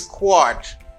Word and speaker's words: quart: The second one is quart. Quart. You say quart. Can you pronounce? Quart. Quart. Quart. Can you say quart? Quart means litre. You need many quarts for 1 gallon. Vous besoin plusieurs quarts pour 1 gallon. Okay? Quart. Quarts, for plural, you say quarts. You say this as quart.